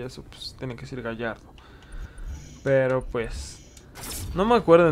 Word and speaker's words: Gallardo: ¿Cómo se dice? ¿Gallardo o Galardo? Según yo, siempre he sabido que se dice Gallardo, porque pues como es una palabra que se dice en español y eso, pues tiene que decir Gallardo.